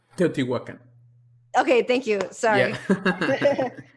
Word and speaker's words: Teotihuacan: You took me to the pyramids in I'm gonna say it wrong, Technochitlán? No, I got it wrong. Teotihuacan.